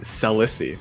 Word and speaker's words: Selicy: Yeah, I know the actual way it's supposed to pronounce it from Eden Dev himself. He has stated that is Celicey. However, Oh.